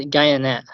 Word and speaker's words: Guyane: The correct pronunciation is Guyane.